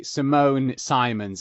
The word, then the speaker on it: Simone Simons: hello today i'm joined by simone simons is am i pronouncing that correctly yes that sounds great good